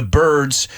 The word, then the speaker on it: bird: So great movie, The Birds. Remember, we don't say beards. That's what I have on my face. Beard. Bird is the word. It rhymes with word, and it's as if that I was an E.